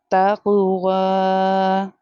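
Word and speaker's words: تقوى: After the vowel, the next letter is ya. Ya is here is a silent letter. We have to ignore it. Bit taqwa.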